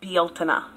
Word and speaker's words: Beltane: So when you read in the book Beltane, how are you supposed to know that that's Bealtana? Unless you've actually gone to